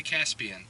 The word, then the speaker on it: Jaspian: And I heard her say it back, and she was like, okay, Jaspian. And I thought, wow, she pronounced it right, but this has happened before.